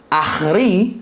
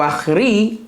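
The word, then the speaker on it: ἄχρι: a actar un momento ahri así se pronuncia en griego ahri Hasta eso significa Esa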